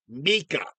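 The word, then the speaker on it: Mieke: Mike back and forth now here's the thing Mike's name is actually spelled m i e k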